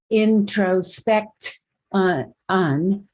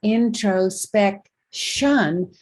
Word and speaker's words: introspection: don't pronounce the word introspect on we pronounce we pronounce it as intro spec shun with the shun syllable being spelled t-i-o-n so technically the morpheme